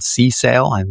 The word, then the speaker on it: CSAIL: There was a head of a large mature AI organization called CSAIL. Is that how you pronounce it?